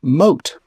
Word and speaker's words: Moth: There is also Don Adrianiano de Armado and his trusty page boy whose name is spelled like moth but is pronounced moat.